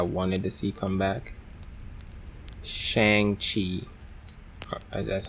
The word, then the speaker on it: Shang-Chi: Shang-Chi. That's how it's pronounced? Shang-Chi.